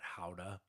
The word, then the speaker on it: Gouda: We were in and they call it howa. It's spelled like Gouda, the cheese.